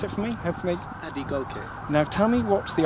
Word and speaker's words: Adegoke: in the silent movie um your last name pronounce it for me hope AB go now tell me what's the origins of that